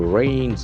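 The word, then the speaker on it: rein: Okay, you have rains, R-E-I-N, pronunciation very tricky, rain, back with wily.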